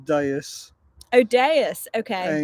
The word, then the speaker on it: Deus: It's pronounced Deus, Oh, Deus. Okay. and it is French.